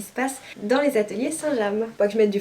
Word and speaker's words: Saint-James: Saint-Jean alors j'ai dit Saint James toute ma vie et en fait on dit bien Saint-James puisque c'est le nom d'une ville en Normandie et ça se prononce ainsi voilà vous vous coucherez